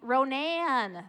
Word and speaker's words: Ronan: He'll be, Ronan, thank you, sorry.